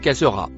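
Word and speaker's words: خاسرة: Le mot écrit en ver se prononce cassera.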